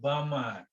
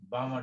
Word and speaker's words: Balmer: Second one is called Balmer. L is silent. L is silent. Balmer series.